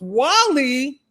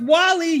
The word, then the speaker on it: Guale: This This says the guale pronounced Wall-E. It's pronounced Wall-E, y'all. Can we say it together? Wall-E.